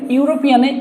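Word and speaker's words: European: এখন সিঙ্গুলার বসানোর ক্ষেত্রে ইউরোপিয়ানে ই আছে, কিন্তু উচ্চারণ হচ্ছে ইউ যদি উচ্চারণ হয় সেক্ষেত্রে আমরা এখানে কি বসাবো, অ্যান বসাবো।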